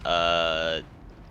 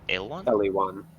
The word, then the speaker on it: Eliwan: And it's pronounced Elwan? Eliwan. Eliwan. Yeah.